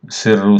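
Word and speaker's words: سرّ: Falrina, Sirru, Sirru c'est SR, R anglais cette fois.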